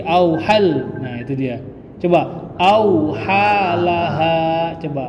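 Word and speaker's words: أثقالها: Coba auhalaha, coba. Auhalaha. Itu yang benar. Tapi Bapak membaca auhal langsung hal, di situ nggak ada tahdid.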